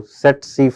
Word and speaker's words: tsetse: call it as a tsetse fly, okay. Here T is silent, just for your information. It is transmitted through tsetse fly, which is a Glossina species, which is found in sub-Saharan Africa.